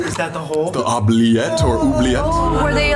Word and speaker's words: oubliette: This is the oubliette.